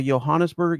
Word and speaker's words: Johannesburg: I learned to say pronounce it like an H. Let me check something here real quick. All right, it's going from Durban to Johannesburg.